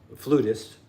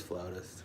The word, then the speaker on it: flautist: Flutist. No, you said it right the first time. Well, she liked to say flutist, but it was flautist. It is flautist.